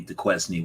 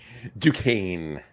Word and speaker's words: Duquesne: I think we went up the Quesney one. Duquesne. And it's spelled, if you take the Q and change it to an F, it's Dufresne, like Andy Dufresne from.